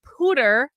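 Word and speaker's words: Poudre: has been doing amazing work out in the pooter I'm told that's pronounced School District in Colorado and and she's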